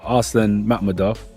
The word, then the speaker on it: Arslan Makhmudov: So for Arslan Makhmudov, that's the right way to pronounce it, right? Yeah.